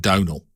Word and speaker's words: Domhnall: It's either Domhnall or Domhnall. I think I saw him in an interview. He was asked about his name, and Domhnall Gleeson pronounces it Domhnall.